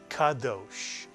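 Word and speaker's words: קדוש: How would you read the first syllable? Ka is correct. And the second syllable? Dosh is correct. Daled and the cholam and the shin. Dosh. Put the word together and you get kadosh, mitsuyan.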